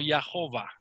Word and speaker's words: Jehová: o entre las consonantes eso me da como resultado lo que se pronuncia como ya hoba hoba ok que es